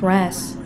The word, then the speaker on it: Ra's: Talia says that his name is pronounced Ra's. And there's a common misconception that his name is Raz.